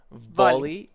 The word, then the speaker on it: volley: So, when you have the v- v- sound, you need to bite your bottom lip. You know, you you there needs to be a contact between your teeth and the bottom lip. V v volley. Yes, that's right. And the B sound, the b, is a bilabial, so you need to make sure you put your lips together.